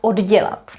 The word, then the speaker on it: oddělat: We write double D here. And that simply happened because we have the verb dělat, which means to make and do, and then we add the prefix od. So that's how we ended up having double D, but we have to pronounce it oddělat, oddělat.